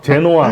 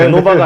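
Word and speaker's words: Genoa: 근데 한국 발음이랑 좀 틀려요. 롬, 제노아, 그렇죠? 네, 제노바가 아니고 제노아입니다.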